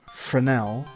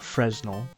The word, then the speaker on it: Fresnel: So, the name Frenel, which is how you're supposed to pronounce it, not Fresno.